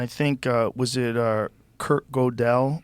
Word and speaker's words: Gödel: And I think was it Kurt Gödel? Like how do you say his name? Gödel? It's that weird Umlaut. Yeah. Yeah. How do you say it? What's the name? Gödel.